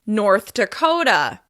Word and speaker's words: North Dakota: Once again, we're stressing the second word, and in this case, it's on the second syllable. North Dakota. North Dakota.